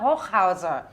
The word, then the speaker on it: Hochhauser: reporters, starting with Jona Hochhauser, which is how you should pronounce his name in German, with anything and everything criminal.